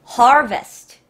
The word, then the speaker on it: harvest: 오케 다음 거 갈게요 harvest 자 발음 중요합니다 har 베스트가 아니라는 빅토리아가 아니라예요 harvest harvest 저거 과자 이름 맞아요